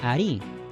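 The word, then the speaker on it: arí: con tilde por ejemplo la palabra Ari que significa si debido a la tilde es fácil darse cuenta de que la mayor fuerza de voz recae en su última sílaba como se sabe a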